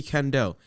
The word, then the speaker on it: Kendall: crazy thing is since since birth nobody has been able to pronounce my my first name right it's literally kendall it seems simple right